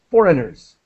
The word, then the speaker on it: foreigners: I don't really use the A sound. So foreigners.